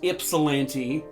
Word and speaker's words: Ypsilanti: I believe it's pronounced Ypsilanti, Michigan.